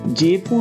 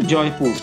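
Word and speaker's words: Jeypore: ইংরেজি অক্ষর দেখে জেপুর মনে হলেও এর আসল উচ্চারণ কিন্তু জয়পুর।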